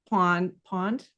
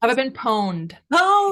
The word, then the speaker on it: Have I Been Pwned: so um I've been Pawn pawned how do you say it have I been pwned okay owned owned only with a p yeah yeah oh